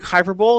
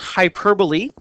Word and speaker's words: hyperbole: of speech similarly hyp hyperb uh looks like hyperb it's pronounced hyperbole metaphor and personification to form imagery that is